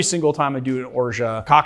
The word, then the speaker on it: orgeat: how that's possible because Greg from how to drink says Oro which is absolutely not how you pronounce it I don't understand how